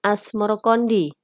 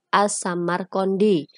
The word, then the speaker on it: As-Samarqandi: Babat Tanah Jawi versi Meinsma menyebutnya Asmorokondi, mengikuti pengucapan lidah orang Jawa terhadap As-Samarqandi dalam cerita rakyat ada yang memanggilnya kakek bantal.